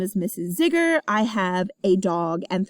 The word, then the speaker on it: Zigger: Zigger is pronounced like Tigger.